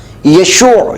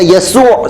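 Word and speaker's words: يشوع: سے آتا ہے، اور اس کا اصل تلفظ یشوع شین سے یا یسوع سین سے ہے، اور اس کے معنی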